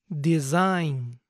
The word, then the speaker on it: design: sigamos con los extras esta terminación I g n siempre se pronuncia ain ain imaginen que la G en este caso es muda A son pocas